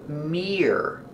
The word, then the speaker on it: mirror: first vowel is ear like ear together Mirror Mirror we use ER like Burger put it together mirror mirror there's a